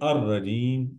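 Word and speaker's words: الرجيم: When we read it, we say ar-rajim. We don't pronounce lam, l, as per Arabic formula.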